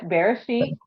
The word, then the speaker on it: Bereshit: Would it be something Bereshit? Yes, Bereshit. Beresh- Ha Bereshit?